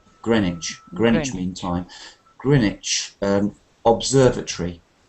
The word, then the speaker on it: Greenwich: Notice the pronunciation of Greenwich, not Greenwich. Greenwich.